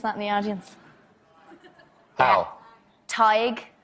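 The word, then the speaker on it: Tadhg: sisha that's Hera does anyone know here to pronounce that in the audience hi TIG TIG yeah Nave what Nave Nave but it's NE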